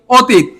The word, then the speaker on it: অতীত: এটা যদি হয় তাহলে কি হবে বলেন? অটা ওতে রূপান্তরিত হবে। অটার উচ্চারণ কি হবে? ও। তাহলে আমরা এখানে এটা কি হবে? অতীত না অতীত? অতীত।